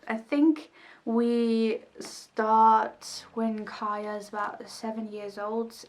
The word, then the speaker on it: Kya: a girl i think i called her kia but she's probably pronounced kaya i don't know it's kya and she's living in